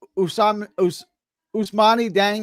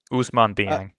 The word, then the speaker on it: Ousmane Dieng: Ousmane Dieng. Am I saying that right? Ousmane Dieng.